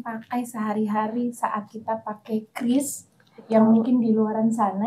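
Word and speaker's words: QRIS: Kris ya Bu bukan Kiris dari Bank atauis ya. Saya baru tahu kamitin baru tahu bahwa pengucapan yang benar itu bukan kiris, curis ataupun bahkan yang lain, tapi kita satu kata semua pakai.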